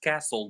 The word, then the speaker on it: castle: Do we pronounce this castle or castle? I agree with you all. This is pronounced castle. The T is silence.